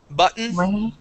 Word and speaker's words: button: written or button okay we do not make those a Double T sound they are a swallowed or an eat okay written written button okay written button Mountain okay okay that's how we would pronounce those those t's um they're eaten they're swallowed up they're they're they're